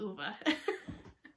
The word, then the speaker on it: Ove: many times it's over it's a man called ova it's how they pronounce it in the audiobook um and so